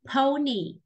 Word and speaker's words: pony: Từ này sẽ là pony. Pony. Pony. Cái từ này là âm ớ ù, không phải là pon nhá. Mình không đọc là pony đấy.